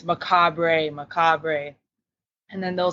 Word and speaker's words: Macabre: to Devon mcab Devin how you doing today maab yep yep you got it right yeah I